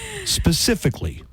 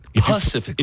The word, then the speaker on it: specifically: the time we're corrected specifically specifically specifically pacifically if you pronounce it pacifically people might think you're dumb especially if you're a